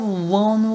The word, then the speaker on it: won't: My love won't wait. 그래서 won't는 윌라스 주격형이죠. want가 아니고 won't예요. won't를 빨리 발음한 발음이 좀 어렵습니다.